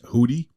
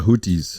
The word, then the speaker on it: Houthi: The United States and the UK military are currently conducting airstrikes against, and how do you pronounce this, Cody? You said Houthi? The Houthis.